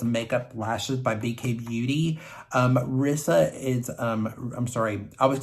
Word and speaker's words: Rissa: Rissa is, I'm sorry, I would say her name wrong. I think she pronounces it more Risa.